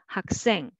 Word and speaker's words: 학생: You can make a soft s sound just pronouncing alone, but together you will make 학생, 학생. So because of the final consonant sounds, next initial consonant sound will be tensified.